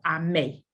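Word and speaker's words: Amee: And the response is, I may. Kind of like A-M-A-A-Y, but it's spelled like you see in the chat.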